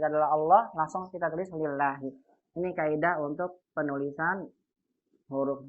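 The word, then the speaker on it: لله: Tapi kalau tidak ada alifnya berarti ini bacanya lillahi.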